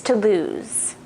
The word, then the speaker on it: Toulouse: So the black one is Berlioz, if I looked up the correct pronunciation of that. Berlioz is the black one. The orange one is Toulouse.